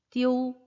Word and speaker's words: diu: 발음은 바뀌어요, 안 바뀌어요? 발음은 오, 약하게라도 넣으라고. 띠오, 띠오 라고 발음을 해주세요.